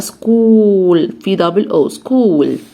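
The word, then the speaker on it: school: اسمها سكول سكول سكول حرف الايه هنا اللي هو هذا مش هانطقه يبقى سكول بنتي يعني حرف الجيم والاي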